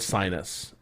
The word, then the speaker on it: Synus: People told us to look up the Ford Sinus, but it's actually spelled like it's pronounced sinuous, but it is spelled SYNUS.